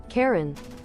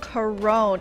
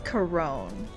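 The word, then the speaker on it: Charon: Karen. It's Karen. like Karen. Hold on, never mind. Someone said, "Uh, I've been pronouncing it similar to Karen, but that puts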